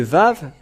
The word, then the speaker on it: vav: pas la lettre W il prononc tout simplement le va ve mais ils n'ont jamais prononcé le W mais les gens en